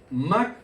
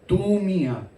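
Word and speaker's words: μακροθυμία: En el griego, mak con K, makrotumia. Es medio difícil pronunciarlo. Makrotumia, no to, tumia.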